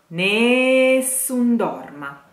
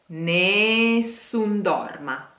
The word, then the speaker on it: Nessun Dorma: has to be sank Nessun Dorma Nessun Dorma last a of the sentence has to be pronounced ah ah don't let the becomes